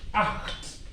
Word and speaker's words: acht: Acht. Acht. It's pronounced acht.